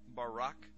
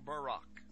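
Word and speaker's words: ברק: a flash of light in Hebrew is pronounced Barak or Barack now consider this amazing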